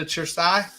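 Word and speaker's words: Cersaie: the invite yet to chersai or why is it pronounced your Sai and it's spelled with the c I don't understand well c e in Italian is a chess sound so sure CE is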